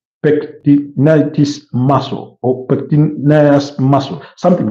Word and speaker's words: pectineus: This is, I don't know how to pronounce this, but it sounds like pectinitis muscle or pectineus muscle, something like that. Forgive the mispronunciation, but it's PECTINEUS muscle.